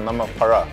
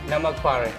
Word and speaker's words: namak pare: Tell me, pronunciation, namak pare or namak para? Namak pare. Namak pare.